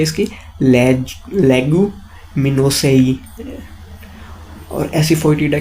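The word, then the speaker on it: Leguminosae: क्या बोलते हैं इसको भाई, प्रोनाउंसिएशन क्या है इसकी? लेगुमिनोसेई।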